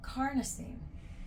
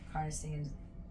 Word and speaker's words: carnosine: going to number four carnosine carnosine it kind of rhymes with carne like carneada tacos helps you remember you